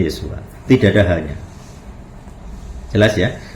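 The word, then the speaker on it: ישוע: Jadi kalau dibuka itu kan Yod, Shin, Waf, Ayin. Bacanya Yosua.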